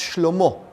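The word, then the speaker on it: שְׁלֹמֹה: His son, Solomon, which in Hebrew is pronounced Shlomo, which means peace.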